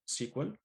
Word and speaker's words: SQL: So SQL, we pronounce it SQL.